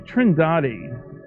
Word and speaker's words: Trindade: And here's a sequence from Trindade, I'm told it's pronounced, 600 miles east of the coast of Brazil.